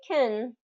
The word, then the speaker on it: can: Whereas if you reduce that vowel in can and say kin, then it's not easily confused with can't.